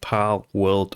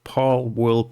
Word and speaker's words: Palworld: heard about this game pal world or pul World pal world so I guess this is how you pronounce it and this game is